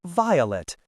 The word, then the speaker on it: Velatte: grandmama's illiteracy that she changed the pronunciation to rhyme with plate. However, I am not ashamed of my grandmother, so I pronounce it violet, as in the delicate flower.